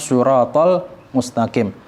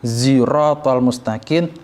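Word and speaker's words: صراط المستقيم: Tidak boleh kita membacanya ihdinas siratal mustaqim pakai huruf zain. Karena kalau kita pakai suratul mustaqim artinya jalan yang lurus. Akan tetapi kalau kita rubah menjadi ziratul mustaqim artinya adalah kepiting yang lurus.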